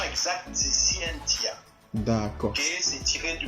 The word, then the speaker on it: Scientia: Donc c'est Scientia la prononciation exacte. Ça se lit T, et ça se prononce C. Scientia.